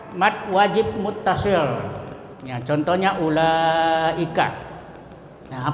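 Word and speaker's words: أولئك: Nah, apabila ada mad tabi'i Umpamanya ula bertemu dengan hamzah ulai di dalam satu kata seperti ulaika. Ya, cara membacanya wajib dipanjangkan sampai 2,5 alif atau 5 harakat atau 2,5 mad tabi'i. Ulaika, ya, dihitung 5 kali. Jadi wawnya tidak dibaca karena tidak ada barisnya, ya.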